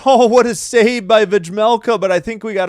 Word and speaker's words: Vejmelka: Vejmelka is how they're saying it. So the J is silent. Vejmelka.